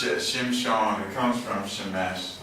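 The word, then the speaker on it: שמשון: Yeah, but it's spelled sun, like. Oh, you mean in Hebrew? Mm-hmm. Okay, all right. But it's Shimshon.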